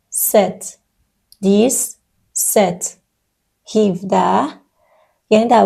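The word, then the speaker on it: sept: املاش مشابهه ولی سیست تلفظ میشه ست پی وسطش خونده نمیشه ست هفت ویت ۸ ۸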